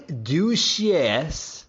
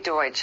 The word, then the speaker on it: Deutsch: Donnie Duchess, if I'm pronouncing that right.